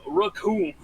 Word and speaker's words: Raccoon: voices that you've given them just remind me, the name's Raccoon. It rhymes with doom, and you're gonna be hurting all too soon.